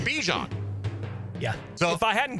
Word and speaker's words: Bijan: And, like, he was asked to pronounce his name on a little video clip, and he said Bijan.